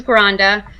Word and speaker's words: Granda: So my first name is, and last name is Granda.